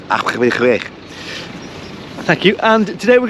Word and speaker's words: Abergavenny: And today I am in the beautiful Welsh town of Abergavenny. Am I pronouncing that correctly, Mr. Sampson? No, it's Abergavenny.